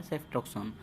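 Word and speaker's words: ceftriaxone: इसे बहुत सारे लोग सीफा के नाम से भी जानते हैं, लेकिन इसका प्रोनाउंसिएशन होता है सेफ्ट्रॉक्सोन।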